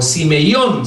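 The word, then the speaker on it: σημεῖον: La palabra griega que Juan usa para esta es semeion o simeion, sería la pronunciación.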